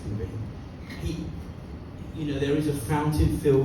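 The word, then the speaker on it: Cowper: Like this guy William Cooper, it spells C-O-W-P-E-R, but pronounced Cooper.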